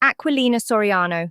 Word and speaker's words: Aquilina Soriano: So then next in line comes Lily Marcigan, and she is played by the actress Aquilina Soriano. Lisa. I know. It's pronounced Aquilina Soriano.